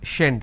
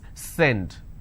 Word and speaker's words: send: So if you make a mistake, you will end up pronouncing this as shend. Shend it. It's not shend, it's send.